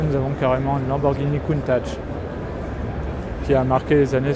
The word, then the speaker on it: Countach: Donc c'est du piémontais, hein, je rappelle, donc ça se prononce Countach avec un T, che. C'est pas de l'italien la prononciation.